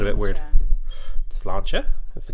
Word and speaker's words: Sláinte: Sláinte. That's the correct pronunciation, I believe.